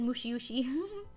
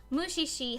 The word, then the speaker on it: Mushishi: Oh, I said it wrong. I said Mushiushi. Mushishi has a dub.